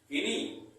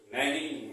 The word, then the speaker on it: knee: इसको क्या पढ़ेंगे, किनी, नहीं, इसका प्रोनाउंसिएशन होगा नी।